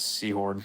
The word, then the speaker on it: Sehorn: That dude with the weird fucking like I think his last name was like It was Seahorn, but it's spelled wrong. It's Sehorn.